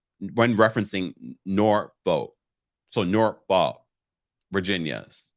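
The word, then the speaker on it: Norfolk: chat uh dom says you don't pronounce the l when um when referencing nor vote so nor ball virginia not sure about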